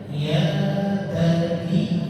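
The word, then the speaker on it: بُنَيَّ: Ini bukan mat tapi syiddah. Jadi bacanya bagaimana? Ya bani, ya bani, bani, agak sedikit ditekan, ya.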